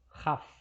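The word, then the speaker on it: כ: Jadi kalau tanpa titik, transliterasinya adalah KH. Dengan titik itu adalah K. Kaf dan Khaf.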